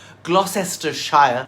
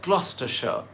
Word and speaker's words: Gloucestershire: This city in southwest England is pronounced Gloucester, and the county it's a part of is not pronounced Gloucestershire, but Gloucestershire.